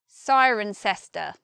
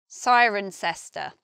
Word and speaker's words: Cirencester: I don't know, but we say Cirencester. And locals of the place, some of them will say sister. Sister. Just similar to sister.